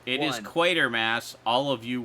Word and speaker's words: Quatermass: Quatermass. All of you wrong people. Quatermass.